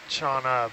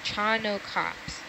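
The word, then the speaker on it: Chaunacops: it no you're right I thought it was chaa but it's chano yes chano cops and if you Google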